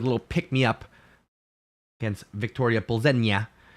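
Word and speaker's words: Plzeň: Everybody's been saying Victoria Plzen or Pulls, but it's Plzen. Makes sense. Little tilde on the end.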